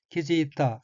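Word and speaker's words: 気づいた: 넷째 줄 첫 번째 어휘는 한자가 기운기자이고 일본어로는 키지이타 라고 읽으며 키지이타는 깨닫다, 알아차리다, 정신이 돌아오다는 뜻의 자동사인 키즈크의 과거형으로 키지이타는 깨달은, 알아차린 이란 의미입니다.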